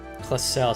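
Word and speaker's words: Claussell: oh yeah c closel that's my name closel so that's how you pronounce it you're just over halfway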